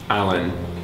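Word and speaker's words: Alan: the waist down what's your last name spell that for me what's your first name Allan a l a n how old are you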